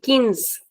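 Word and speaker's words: quinze: 15 is kins. Kins. Again please remember that it is not qui. It doesn't have a sound of qui. It is ki.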